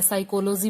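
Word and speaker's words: psychology: लो कि तुम नो बोलते हो, उसमें के साइलेंट है। साइकोलॉजी बोलते हो, साइकोलॉजी में पी साइलेंट होता है।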